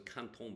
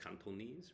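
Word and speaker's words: Cantonese: like the canones Canton I always thought it was Canton but you they pronounce cantones right cantones accent but he's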